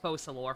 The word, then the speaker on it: Focalors: Her demon name is Focalors. Although they pronounce it Fosalor for some reason with a silent S.